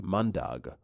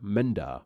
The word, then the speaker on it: mandag: but they pronounced differently the Norwegian one is pronounced mandag while the Danish one is pronounced Menda because of this I read